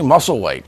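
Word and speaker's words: Musselwhite: how do you say his last name Charlie muscle white he's yeah tell me about him he's a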